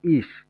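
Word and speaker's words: ich: এই ব্যতিক্রমটা হচ্ছে যেমন ইস এটার উচ্চারণ হবে ইশ ই সে হা ইস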